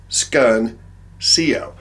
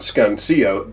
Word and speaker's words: Scuncio: the S and then the Cuncio, which is pronounced Scuncio. I'm going to read you a paragraph that Chuck just sent me. Scuncio, pronounced Scuncio, they were very well known as the performance dealer in the Northeast.